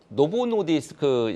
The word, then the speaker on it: 노보 노디스크: 간단하게 이제 한 가지만 코멘트를 하자면 어 저 노보노디스크 이제 말씀하셔서 그런데 이제 덴마크에 이제 글로벌 압도적인